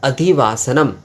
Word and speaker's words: अधिवासनम्: विसर्ग आ रहा है और अधिवास इसके उच्चारण में जो है मा हलंत म में हलंत हो रहा है तो अधिवास अधिवास